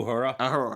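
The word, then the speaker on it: Uhura: got yora how do you say her name aora thank you um I think I'm going with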